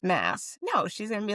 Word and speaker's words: Maas: her and I said, "Okay, Sarah J. Moss." She'd be like, "That's me, Sarah J. Mass." Like, she would just say the correct pronunciation like in her next sentence.